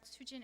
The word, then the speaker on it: Soojin: So I didn't know how to speak Korean, so I said Soojin in a very Korean pronunciation.